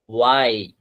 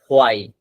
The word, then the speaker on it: why: ওয়াই, নট হোয়াই, এটা ওয়াই কিবেন।